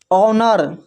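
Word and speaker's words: honour: देखिए यहाँ पर इसको पढ़ते हैं आवर, यहाँ पर देखिए एच के बाद ओ है तो एच साइलेंट है, इसको पढ़ रहे हैं आवर। फिर है ऑनर, ऑनेस्ट।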